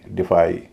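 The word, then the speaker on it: defy: इसी तरह supply, डिफाई, इन सब में वाई का उच्चारण आई ही होगा क्योंकि ये सारे वर्ब हैं और स्ट्रेस दूसरे हिस्से में पड़ रहा है।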